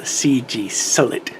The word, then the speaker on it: CGSULIT: foreign could probably only be pronounced as the CG solid the manufacturer named their